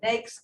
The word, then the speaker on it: NAICS: And that's how you say it. I heard it from Vincent. He said NAICS code.